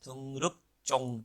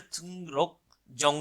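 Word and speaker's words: 등록증: Double जियत हो जाएगा, तो ये बोला जाएगा तुंग रुक चोंग, चोंग बोला जाएगा, ठीक है। तुंग रुक जोंग नहीं कहेंगे, इसको बोल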